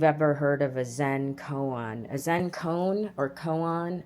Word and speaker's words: koan: heard of a Zen koan, or koan, I don't know it's spelled Koan, not moan, koan.